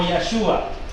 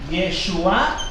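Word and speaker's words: ישוע: En la historia, su nombre es conocido como Yeshua. Yeshua quizás es la mejor pronunciación, aunque Yeshua da el significado de su nombre.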